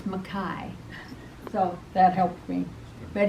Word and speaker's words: McKay: was a fabulous program the name is spelled McKay but he says just think of the sky so it's Makai so that helped me